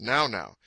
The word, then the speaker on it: nau: native they are called the now now na NAU which is pronounced now now they are certainly well-